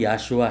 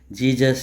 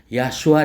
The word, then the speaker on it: यशुआ: इसको उच्चारण करवाया था वह नाम यशुआ है जीजस यशु यीशु ईसा जशु जीसा जीसी जीसा यह नहीं है यशुआ नाम है तो इसलिए आप साफ